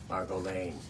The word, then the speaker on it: Margo Lane: Margo Lane. You got you got to say it like that. Margo.